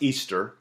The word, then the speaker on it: Ishtar: Ishtar, which is pronounced Easter, was a day that